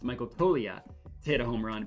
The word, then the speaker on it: Toglia: That's how it's pronounced, Michael Toglia, to hit a home run.